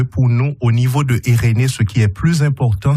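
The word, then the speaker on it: Eirene: pour les auditeurs auditrice je dis eréné ça s'écrit e i r e n e eréné Suisse eréné c'est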